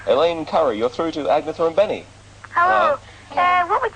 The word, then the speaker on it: Agnetha: How do you pronounce Agnetha? Is that right? My name is Agnetha. Agnetha. Yeah. There's me saying Agnetha and things like that. You're probably squirming every time I say Agnetha, but I can't learn to say it properly in time, so we'll have to make do with that one.